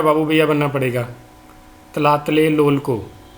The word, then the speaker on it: Tlatelolco: इसको प्रोनाउंस करने के लिए आपको हेरा फेरी का बाबू भैया बनना पड़ेगा। tlatelolco।